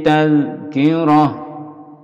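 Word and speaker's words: تذكرة: Inna hadhihi tazkirah. Berhenti, ada jim di sini. Tazkirah, taknya diganti ha.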